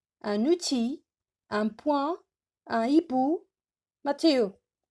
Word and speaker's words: outil: Un outil, j'ai pas prononcé le L.